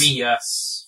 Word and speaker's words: Reus: I don't know how to pronounce that. I still haven't looked it up. Reyes. Is I it think Reus? it's Reus. R-E-U-S.